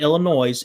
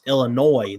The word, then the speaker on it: Illinois: It's not Illinois, it's Illinois. The S is silent.